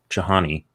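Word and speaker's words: Chainani: bestselling book from soman chahani i think it's jahani it's spelled chain annie and it follows best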